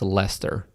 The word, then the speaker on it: Leicester: Lester that doesn't make any sense that it's Lester there's a SE in there it's leester well I guess I'll it's spelled Laker Lester ler well can you say